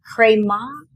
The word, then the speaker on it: Cré Maith: There's a name, Cré Maith. Cré Maith. Cré Maith. It's not spelled like that at all because where does it come from? It's Gaelic and it means good clay.